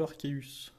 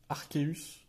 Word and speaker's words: Arceus: Avec bien sûr le Arceus.